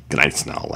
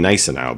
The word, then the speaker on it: Gneisenau: It's a little less G sound. I think it's Gneisenau. It almost sounds like they're saying Gneisenau, but they're back.